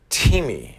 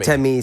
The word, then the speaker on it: temi: half okay pretty good so that's T me I hear you're saying Tim is that I yeah that's very controversial yeah it's it's it's me then we see that in the u.s. everybody pronounces him ten me so we're kind of going with the flow but I'm you know from doing a little long vowel sound over the et me it's better than Timmy